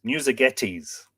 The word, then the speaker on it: Musagetes: Musagetes, Musagetes, says Mavanwi, is the University of Waterloo recommended pronunciation.